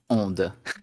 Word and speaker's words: ONDE: Yeah, I can already tell that the game is pronounced ONDE. Onde, so like the French onde.